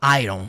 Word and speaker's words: iron: E aí um dos erros mais comuns é pronunciar essa palavra aí, iron. Você não fala iron.